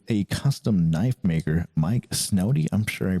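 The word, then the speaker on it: Snody: first design with a Custom Knife Maker Mike snowy I'm sure I pronounced that wrong it's s n o d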